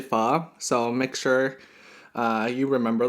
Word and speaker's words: pho: And although it looks like it's pronounced pho, it's actually pho.